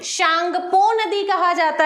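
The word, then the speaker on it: Tsangpo: अगर इसको इंग्लिश में अपन लिखते हैं तो सामने में टी लग जाएगा, है ना। उसकी स्पेलिंग में ऐसा होता है कि कई वर्ड्स मिसिंग हो जाते हैं इंग्लिश में, लेकिन उसको पढ़ा जाता है।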